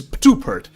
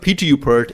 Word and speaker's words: Patupert: So he's the PTU expert, so he's Patupert. So it's not PTU-pert, it's Patupert. So everybody try pronouncing that.